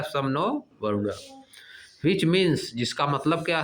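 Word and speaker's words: शं नो वरुणः: Pronounced सम नो वरुणा। जिसको क्या pronounce किया जाता है? सम नो वरुणा।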